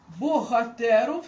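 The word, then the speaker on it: Bohaterów: Богатеров, точніше богатеров. Гетта. Богатеров. Там м'яко вимовляється, бо там ця літера, а гетта уже твердо, бо там ця іде літера Г.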